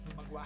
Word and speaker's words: Magua: Magua. Magua. Magua. Sound like agua. Yeah, it sounds like agua, but it's spelled like magua.